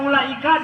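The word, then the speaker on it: أولئك: Karena lemah di ilmu rasam, baca ulaika dibaca panjang karena ada waw. Wabil akhirati hum yuqinun ulaika hudan min rabbihim wa ulaika humul muflihun. Karena lihat ada wawunya, betul dalam tulisan ulaika ada wawu. Tapi menurut ilmu rasam, wawu pada ulaika itu statusnya sebagai tambahan, ziyadah, tidak perlu diucapkan.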